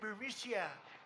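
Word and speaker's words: Burisma: with the burmese executives so this uh bureaumicia bermucia they say pronounce it borisia a real beautiful company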